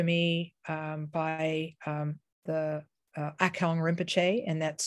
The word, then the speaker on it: Akong: was taught to me um by um the akong rinpoche and that's spelled uh a i'm going to type it